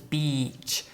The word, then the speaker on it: beach: So it's beach. And the other word is bitch. Bitch. So beach and bitch.